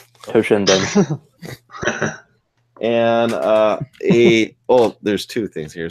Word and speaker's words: Toshinden: Thank you for saving me from pronouncing that wrong. Toshinden.